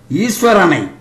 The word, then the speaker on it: ஈஸ்வரன்: தலைவன் என்ற அர்த்தங்கள் உண்டு ஈஸ்வரனை ஈஸ்வரன் என்றே உச்சரிக்க வேண்டும் ஈச் என்றால் உரிமை என்று